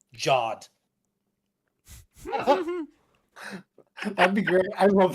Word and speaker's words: Ghad: What if the supreme being came down to Earth and was like, it's actually pronounced Jod.